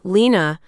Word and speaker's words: Lena: The way she said my name, Lena, with that specific emphasis on the first syllable, a little higher than the rest, like it surprised her every time.